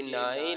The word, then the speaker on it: nine: नून के बाद देगा, आखिर में ई है, ये साइलेंट रहेगा, इसकी कोई आवाज नहीं आएगी। तो नून अलिफ नाम से छोटी है नाइन, नून मकुफ 9, ठीक है।